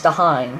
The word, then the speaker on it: Dahlin: Start losing for you could get the first overall pick and draft Rasmus Dahlin. That's how you pronounce his name. That's how I hear people say it.